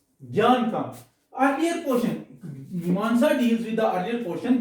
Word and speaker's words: Mimamsa: The spelling is M-I-M-A-M-S-A. Mimamsa nahi. That is Mimamsa. That na, that is Sanskrit pronunciation, therefore it is called, written as such.